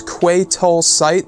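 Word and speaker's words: Quay Tolsite: course the leader of the Pyke syndicate named kwai tall sight so in case you guys didn't hear that it's Quay toll site that's how you pronounce it and this is gonna be the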